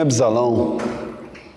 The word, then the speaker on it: Absalão: Tinha Absalão, né? B é mudo.